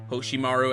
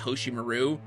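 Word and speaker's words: Hoshimaru: to the dub like pronouncing hosim Maru as hosim Maru by the way that's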